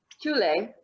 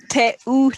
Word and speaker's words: Teule: time in Kenya, serving alongside her husband in Teule, Kenya, a registered NGO that serves orphaned and vulnerable children. Correct me again, what was the pronunciation there? It's Teule. Teule.